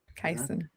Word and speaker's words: Kaizen: Kaizen.